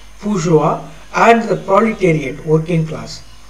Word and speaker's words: bourgeois: The capitalist class is called a bourgeois, of course, the spelling is like that, but then we used to pronounce like this, bourgeois, and the proletariat, working class.